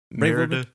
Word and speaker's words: Merida: Merida.